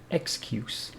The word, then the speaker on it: excuse: have make excuse and because it is a noun we pronounce it excuse if it is a verb excuse for example excuse me but it is a noun so excuse and the cocation for